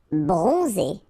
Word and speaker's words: bronzé: Bronzé, so O-N, on, and then Z, it's really pronounced like Z. Bronzé, bronzé. Superstitieux, okay, so final X not pronounced.